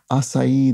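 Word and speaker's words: açaí: cast of a play food pronounced in three syllables it is acai the official Berry of the New York Times crossword puzzle um the acai berry and which has become probably in the past five years or so just an incredibly common bit of fill in the crossword and I do think it's pronounced roughly in that manner with three syllables surprising given it only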